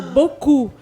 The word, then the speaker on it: beaucoup: você precisa de 3 letras para fazer um som, tipo beaucoup. Então você tem uma palavra com quase 7 letras, desculpa. E você pronuncia só 2 sílabas, né?